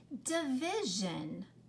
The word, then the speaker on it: division: voiced isn't it okay there are some t-i-o-n and s-i-o-n words that instead of saying shun it comes out with more of a zhan like this word division division okay you've heard that word before right you hear